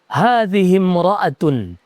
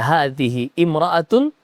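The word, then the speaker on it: هذه امرأة: Hadimroatun. Nah, cara bacanya juga ee bisa saja dibaca hadhi imraatun. Tapi kalau disambung karena ini disebut dengan hamzatul wasal nanti kita bahas.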